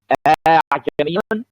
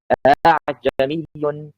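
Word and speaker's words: ءَاعجمي: So how the tasheel is gonna be pronounced? Will I say أعجمي? No, like that I made ibdal. Will I say أعجمي? No, like that I remove. Neither. I will do like that.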